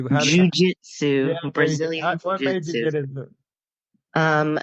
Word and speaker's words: Jujitsu: uh so what made you get into like jetsu I I can't even say it correctly Jujitsu Brazilian what you get um so I had